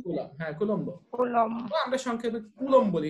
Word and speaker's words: কুলম্ব: Coulomb. আমরা সংক্ষেপে coulomb বলি, এটা উচ্চারণটা হবে কুলম, বটা ব করে উচ্চারণ করবে, কুলম।